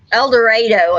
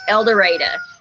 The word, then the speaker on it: El Dorado: and yeah and eureka el dorado always gets el dorado elder right yeah elder adolescent here it's eldoreda yep i love holding